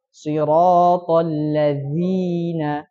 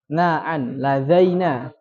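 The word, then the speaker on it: الذين: Kemudian ya, kalau enggak ini mengganti harokat zi menjadi za. Jadi gimana? Siratal ladzaina. Dengan ladzina.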